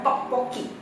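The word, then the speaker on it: 떡볶이: Namanya kalau kita ngomongin adalah tteokbokki. Nah itu adalah pelafalan orang Indonesia.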